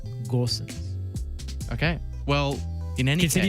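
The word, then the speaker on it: Gosens: ways of saying that there's no umlaut you do say the g it's gorsuch okay well in any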